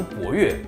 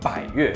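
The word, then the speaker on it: 百悦: 其实百它是个多音字，有些朋友会读博悦，那是错误的，应该叫做百悦，因为它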